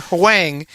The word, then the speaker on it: Huang: Professor Huang is 69. You literally, but I'm. There's no W. There's no W. It's no. The HU is pronounced like a W. Huang.